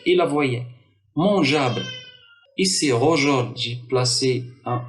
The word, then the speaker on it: mangeable: Et donc, j'ai placé le E entre le G et la voyelle pour obtenir toujours le son J.